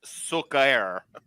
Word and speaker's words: Suker: It's pronounced. It's pronounced Sukair.